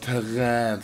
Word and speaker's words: Terrain: kommen downloading Terrain ja das musst ausgesprochen Terrain das ist französisch für irgendwas ganz genau so ich